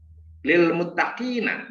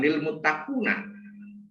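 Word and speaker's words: لِلْمُتَّقِينَ: kasrah dalam hal ini Lil muttaqina bukan Lil muttaqu tapi Lil muttaqina Jadi huruf ee k ini tanda bacanya eh bertanda baca jer atau kasrah sehingga dibaca Lil mutqina nah seperti itu jadi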